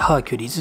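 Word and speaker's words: Hercules: 読み方はね書いてハーキュリーズっていうふうに言いますね。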